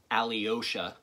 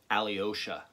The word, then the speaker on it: Alyosha: could never pronounce it Alyosha it came out as three syllables instead of two Alyosha it drove my father